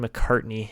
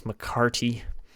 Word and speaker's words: McCarty: sanford wyman even mccarty i was saying it wrong i've seen mccartney it's mccarty angelo mccarty looks really good